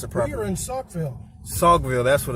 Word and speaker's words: Saukville: Because I couldn't pronounce it properly. We are in Saukville.